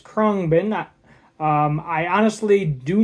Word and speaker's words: Khruangbin: Yes, that is how you pronounce it because I looked it up ahead of time. It's not Kurangbin, it's Kongbin.